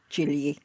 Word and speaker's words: Gigli: go with jiggly jiggly although it should be Jil and we came across